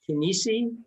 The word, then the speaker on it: Chinnici: It's Chinnici. Is that the Italian pronunciation? Chinnici. Chinnici, okay.